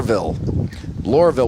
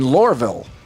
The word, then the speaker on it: Lohrville: All right, the WH13 News is live here at 4 5 6 10 be here all night in Lurville. Two syllables.